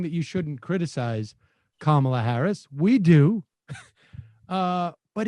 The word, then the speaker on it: Kamala: um hosts on fox her name is pronounced comma like the punctuation mark look kamala okay okay seriously i've